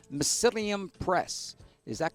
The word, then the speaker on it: Mycelium: Did I pronounce that correctly or not? Mycelium Press, that's correct.